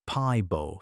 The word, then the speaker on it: Pääbo: In 2010, a team led by a Swedish geneticist named Svante Pääbo, pronounced Pie-bo, finished sequencing the first complete Neanderthal genome.